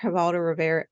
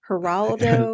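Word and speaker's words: Geraldo Rivera: again I seriously remember havaldo Rivera am I saying it right Gerard Geraldo the name raldo Rivera it's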